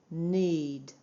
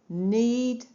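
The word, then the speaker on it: knead: Remember the K is silent. Need. Need the dough to make some bread.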